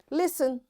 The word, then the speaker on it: listen: hasten bustle and gourmet there are different words but in all these words t is silent so we'll practice this